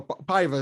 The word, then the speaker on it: Paiva: I heard it earlier and I was like, whoa, I didn't know that's how you pronounce it. I think it's like Halian or Halian Paiva. Paiva is at least how you say the last name.